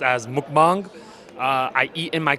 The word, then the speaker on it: mukbang: uh properly pronounced as mukbang.